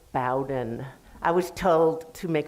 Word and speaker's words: Bowden: Carl Bowden, please take note, they pronounce their name Bowden.